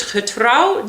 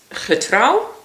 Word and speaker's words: getrouw: Getrouw, I thought of get row.